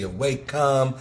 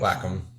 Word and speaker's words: Wacom: com or waycam but it's how do you say it you say wacom what was it it's called a digital drawing pad it's called a white wacom wacom anyways he used to